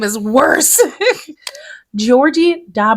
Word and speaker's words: Georgy: Gregory but that is clearly not Gregory giorgie Georgie no it's g e o r g y Georg Georgie spell that again g e o r g y